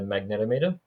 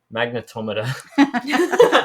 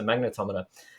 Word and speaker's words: magnetometer: main sensor that ghost of using is a magnetometer I actually found out recently I'm pronouncing It Wrong by the way it's magnetometer the Americans are correct with us on that so magnetometer and essentially that's a compass so it it's